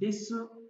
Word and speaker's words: desu: Erkekler des yapısını desu diye telaffuz etmiyor. Sondaki u'yu atıyor. Des diye telaffuz ediyor. Ama kadınlar bazı durumlarda desi desu diye telaffuz edebilir.